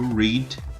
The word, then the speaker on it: read: O verbo read na forma perfeita se torna read. Ele não muda a escrita, porém muda a pronúncia. Se torna red, igual a cor vermelha.